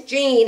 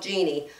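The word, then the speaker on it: Jeanne: clean clean comedian and her name's Gene it's spelled Jean but she calls herself Jeannie Robertson and if you can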